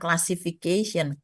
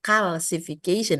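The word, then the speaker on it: calcification: apa Karena terjadi kalsifikasi awas jangan salah yang bacanya bukan classification calsification artinya ada unsur kalsium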